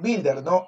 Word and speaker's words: builder: Ok, y acá, hijo, acuérdate siempre que es builder, no se pronuncia la U. La U no se pronuncia. Solamente se dice builder, ¿ok?